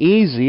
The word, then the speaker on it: easy: and in this one the S doesn't always sound like the hiss of a snake in Easy it sounds like a z easy Z there are